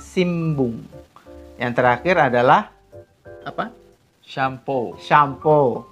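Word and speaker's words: 新聞: Dia tulisannya Sinbung, tapi membacanya Simbung.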